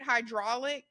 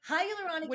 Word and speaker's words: hyaluronic: exactly what it how do you say it hydraulic hyaluronic acid is a sugar molecule type that is